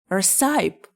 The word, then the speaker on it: recipe: How do you pronounce it? Receipt? Recipe?